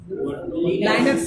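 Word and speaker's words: Linux: लाइनक्स से, यानी लिनक्स बोलिए, लाइनक्स बोलिए, बात बराबर है।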